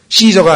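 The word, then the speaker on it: Caesar: 라틴어에서 K 발음이나요 그래서 케사르 그러죠 케사르 시저가 아니고 그런데 영어로 가면 이게 S 자로 발음이 돼요 그래서 프스 또는 시저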